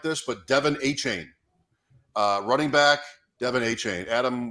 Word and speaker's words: Achane: I'm so happy you said it because I didn't know how to pronounce it either. I was hoping Cody would correct me, but Achane, yes.